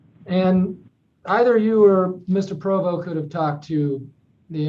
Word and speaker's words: Provost: his name is spelled p-r-o-v-o-s-t and i i think i've heard you pronounce it as provo and leave the st off is it provo or provost it's actually provo but it's when you're